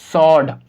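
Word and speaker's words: sword: रखना आप, एस के बाद W आएगा, W साइलेंट होगा। तो हम इसको क्या पढ़ेंगे, आंसर, और हम इसको क्या पढ़ेंगे, सॉड।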